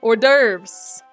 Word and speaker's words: hors d'oeuvres: there's like the don't pronounce the h and S oh okay I was trying to pronounce that one hors d'oeuvres reminds me of carnivorous